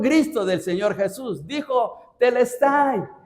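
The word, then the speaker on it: τετέλεσται: Nosotros decimos, nosotros en español dice consumado es, pero en griego se pronuncia telestay. Y el fue un gristo del Señor Jesús. Dijo telestay.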